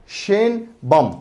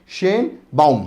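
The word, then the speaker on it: Sheinbaum: बम या sorry Claudia शेन बम बम sorry क्या pronounce करेंगे स क्लाउडिया तो ठीक है शेन बाउम हां शेन बाउम ओके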